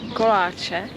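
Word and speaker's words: koláče: another expression is kolache so i don't know exactly how do you pronounce it but in czech it's kolache so this is pro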